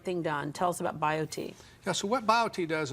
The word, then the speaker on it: BioTE: get the right thing done tell us about bio tea so what bio tea does is we look